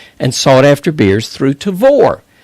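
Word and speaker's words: Tavour: buy highly rated and sought after beers through tavor tavor is spelled t-a-v-o-u-r now the tavor app is available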